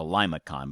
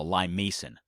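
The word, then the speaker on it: limaçon: did it in green I called it four years a Lima con but it's not pronounced that way it's called a lime Mason this is supposed to remind you of this thing in the middle here being a Lima Bean was that what it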